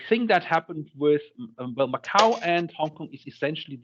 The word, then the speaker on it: Macau: Because Portugal had am I pronouncing it as Macau?